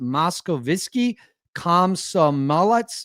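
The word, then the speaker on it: Moskovsky Komsomolets: Speaking of the Moscow, I think it's pronounced Moskovitsky Komsomolets newspaper.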